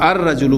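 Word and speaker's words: الرجل: लिहाजा इसको हम अर रजुलू पढ़ेंगे। अलिफ लाम का लाम प्रोनाउंस नहीं होगा। और डायरेक्ट वो जो हमजा है वो रा के साथ मिलेगा।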